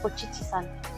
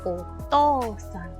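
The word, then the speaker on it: お父さん: san después, entonces ya el kanji no se lee chichi, no decimos ochichi-san, no. Ya el kanji cambia y se pronuncia to en el caso de papá. Entonces otou-san, okaa-san.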